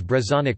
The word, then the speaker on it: brezhonek: No distinction is made in pronunciation, e.g. Brezhonic Breton language versus Brezhonic Breton adj.